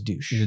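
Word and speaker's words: Deutch: Is it Zoe Dutch or Douch? I always thought it was douche. Douch. Douche. Douch. Oh my goodness. Zoe Deutsch.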